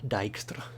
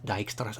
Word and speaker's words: Dijkstra: I think that's how it's pronounced. Dijkstra.